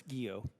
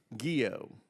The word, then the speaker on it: Guillot: How do you pronounce that? Chairman, it's Guillot. Guillot.